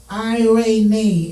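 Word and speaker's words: εἰρήνη: Pronounced eirene in Greek, meaning peace, prosperity, quietness, rest, to be set as one with yourself.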